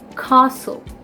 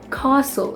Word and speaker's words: castle: They pronounce this as castle. Castle. It's not castle, it's castle. So the A is extended, it's prolonged.